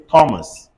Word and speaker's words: Thomas: say time on c-h-e-m-e everybody say tame c-h-o-m-a-s-c Thomas one more time Thomas all right let's carry